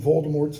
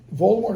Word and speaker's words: Voldemort: be frightened of saying Voldemort's name or Voldemort as JK Rowling says it she pronounces it in the French fashion he says I know